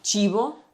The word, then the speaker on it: cibo: Una cosa interessante del tuo accento è che tu hai una Sì. una C'è, sì, che sì. è molto settentrionale, che va benissimo. Sì, sì. Cibo, In un accento più neutro direi cibo, cibo. Si- Allora, si fammi vede- provare.